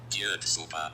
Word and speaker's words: Kjötsúpa: Kjötsúpa. Kjötsúpa. Okay, so the K and J obviously sounds like a D.